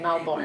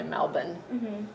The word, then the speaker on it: Melbourne: lived in Melbourne Melbourne Americans say Melbourne but they say Melbourne um when you arrived